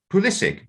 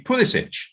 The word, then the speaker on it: Pulisic: mentioned christian pulisic and in america it is politic it should be pulisic because of his croatian ancestry but in america it's